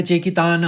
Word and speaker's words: चेकितान: चेकितान यह सीधा-सीधे चेकितान है संस्कृत में।